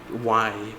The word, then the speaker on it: Dulce: I pronounce it Dulce, but I think the way the characters say it is like Dolce or something. It's so weird. You're just like, how is that Dolce? Like it's like Dolchay, but it's spelled Dulce.